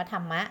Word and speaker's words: ธรรม: นั้น อัน ประเสริฐ ซึ่ง ทำ นั้น อัน ประเสริฐ ธรรม ใน ที่ นี้ หมาย ถึง มรรคผล และ นิพพาน ค่ะ ทำ หรือ คน ไทย ช่อง อ่าน ว่า ธรรมะ ได้ นะ คะ ต่อ ไป นะ คะ ธรรมะ